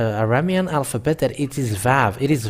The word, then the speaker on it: Vav: And this Vav, it is pronounced as V. But it's people who change it into U and U.